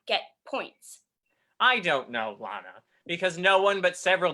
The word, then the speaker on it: Lana: Rey Oh Lana oh sorry it's it's Lana it has a long a well you'd know all